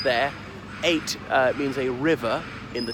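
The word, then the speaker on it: eyot: There are dozens of them up and down the Thames, and yes, it's pronounced just like the number 8, but it can be spelled E-Y-O-T or indeed A-I-T.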